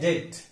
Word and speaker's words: debt: अगला शब्द है DEBT। इसका सही उच्चारण है डेट, कर्जा लेना, इसे हम क्या कहते हैं? डेट। लेकिन हम उच्चार इसका गलत डेब्ट करते हैं, जहां ब साउंड पूरा साइलेंट है, उच्चारण है।